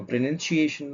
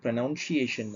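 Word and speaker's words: pronunciation: இதை நம்ம ப்ரொனன்சியேஷன் தான் சொல்லணுமே தவிர ப்ரொனவுன்சியேஷன் சொல்லக்கூடாது.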